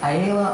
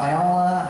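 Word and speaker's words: Aayla: ways of pronouncing so ayela ayala how do you say i say ayla sakura a listener yes that's the way i'm gonna say it from now on but i've heard you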